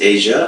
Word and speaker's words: Aja: work within Atlanta Georgia her name is Asia it's spelled Aja okay and um yeah we